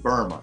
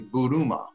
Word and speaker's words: Buruma: I was saying Burma, Ian Buruma, but it's actually Buruma.